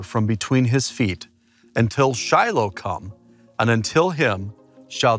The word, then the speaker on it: Shiloh: absolutely love being at this site here in Shiloh or is the proper pronunciation is Shilo and Shiloh is used over